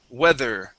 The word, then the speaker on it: weather: th sound there we weather okay let's talk all right let's talk about that th okay so this here is a uh a voiced th we need to stick our tongue between our teeth we weather weather try